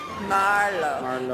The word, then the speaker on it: Merlot: Marlow. Accent on the first syllable.